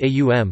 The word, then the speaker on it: Om: The Aitareya Brahmana of Rig Veda, in section 5.32, for example, suggests that the three phonetic components of Om, pronounced A-U-M, correspond to the three